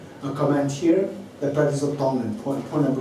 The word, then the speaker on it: Tonglen: T-O-N-G, but don't pronounce it as Tong. It is Tong. Tong. Okay, yeah. Tong. And then Len. L-E-N. Tonglen.